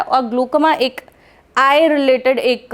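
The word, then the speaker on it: glaucoma: है that is called ग्लूकोमा वाली condition Hindi में उसको ग्लूकोमा बोलते हैं इंग्लिश में उसको ग्लो कोमा बोलते हैं ओके सो ग्लो कोमा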